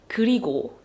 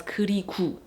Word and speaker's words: 그리고: So for example, a word like 그리고, which means and, it tends to get pronounced as 그리구, 그리구. It should be ko, but sometimes people pronounce it as 구, 그리구.